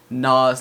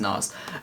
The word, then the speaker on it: Nas: have three tracks today we've got biggie hypnotized nars nurses like and woo tangle i really wanted